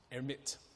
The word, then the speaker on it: Hermite: It's French, so I think it's Hermite.